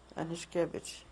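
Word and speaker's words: Aniszkiewicz: How would you spell that? Anishkevich, A-N, in English would be A-N-I-S-H-K-E-W-I-C-Z. Anishkevich.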